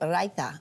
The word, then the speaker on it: raita: for us today is something called raita I think I said it right what is that exactly yes you said it perfectly yes right that is